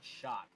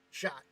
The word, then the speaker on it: Schott: That is Todd Schott. Shot. Perfect. Like shot glass.